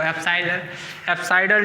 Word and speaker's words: apsidal: लिखो एप्साइडल distance, हाँ epsilon नहीं है, एप्साइडल distance, APSIDAL एप्साइडल distance.